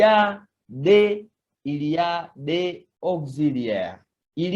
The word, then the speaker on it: des: So we are told, il y a des auxiliaires. Il y a, it means there are. Des, this one, deux, it is pronounced de.